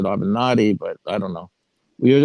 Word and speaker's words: Avenatti: Kelly team, Michael Avenatti, and you guys pronounce it Avenatti, but I don't know.